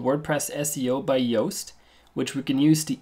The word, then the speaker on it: Yoast: In the search bar, type in WordPress SEO by Yoast. It's spelled like toast, only with a Y.